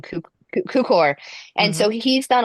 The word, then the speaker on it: Cukor: And so it's done by it's directed by George I'm going to say his name Tukor. wrong, Cukor.